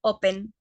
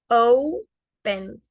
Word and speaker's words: open: Muchas personas cometen el error de decir open, pero es con la pronunciación larga, es open, open, ¿ok? Open. No open, sino open.